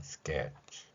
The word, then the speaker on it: sketch: 이 발음 역시 S 뒤에 K가 있으니까 쌍격 발음을 했고요. sketch.